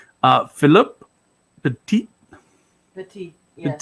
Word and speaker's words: Petit: By the way, it's a good thing he's French because that last T is silent. Philippe Petit. Petit. Yes. Petit.